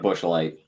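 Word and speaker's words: Busch: it really is because it's spelled like Bush light okay yeah it's B bu USC H right exactly I got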